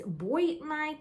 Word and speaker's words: Bois Nuit: действительно влюбилась в аромат lpdo Boys Night возможно правильно произносить Boy Night но мне первый вариант ближе это у нас итальянский